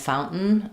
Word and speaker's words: fountain: And that goes along with your other words like mountain and fountain. Fountain, we kind of stop the N and use two syllabic N's in that word.